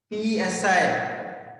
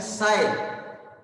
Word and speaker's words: psi: Here p is silent ma, p si, p silent psi, psi.